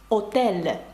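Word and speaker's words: hôtel: але не вимовляється наприклад слово готель французькою буде отель А пишеться воно з аш Чи слово гамак амак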